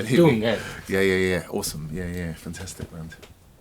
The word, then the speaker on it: Dungen: Dungeon. Dungen. Okay, Dungeon. Yeah. I don't know how to pronounce it. Yeah, no, you're pronouncing it right. Dungen.